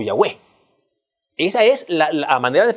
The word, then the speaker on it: Yahweh: el nombre de Dios, la forma más apegada en su pronunciación es la palabra Yahweh o Yahvé.